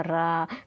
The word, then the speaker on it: र: तो ये हमारा जो प्रंकपित है, तो रा का उच्चारण करते समय जीवा में कंपन होता है। जब आप रा का उच्चारण बोलेंगे रा, तो क्या बोलेंगे?